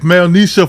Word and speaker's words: Melnisha: You got to sound all those syllables out. She got about 4 of them in there.